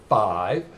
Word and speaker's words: V: is the roaming no more 4/5 and it's pronounced 5 because maroon 5 is their fifth studio album